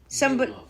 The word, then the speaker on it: Gelof: Ramon Laureano and Zach Gelof. I don't know how to say his name. Gelof, that's good.